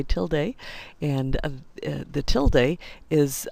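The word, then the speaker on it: tilde: quote means make it an exact replica control till day now I know other people pronounce it Tilda but I say till day and the till day is uh what allows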